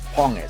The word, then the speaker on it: Ponge: Yes, we know that apparently that's how you pronounce it. It's Ponge.